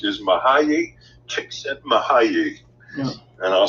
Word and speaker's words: Mihaly Csikszentmihalyi: And the way it is pronounced is Mihaly Csikszentmihalyi.